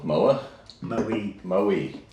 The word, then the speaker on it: Moe: our final destination in, how do you say it? Moa? Moe. Moe, Australia, which is southeastern?